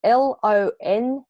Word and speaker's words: Longdon: It's like London with a G in the middle of it. How do you spell it, just for the folks who are listening? Yep. So it's Longdon.